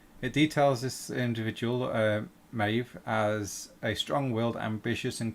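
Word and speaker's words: Medb: some information shay about queen um meb or maeve as it's pronounced um they spelled spelt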